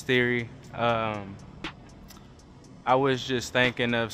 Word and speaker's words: Theori: even pronounce it right some people are like the Ori there's they think it's like two separate things but it's theory I was just thinking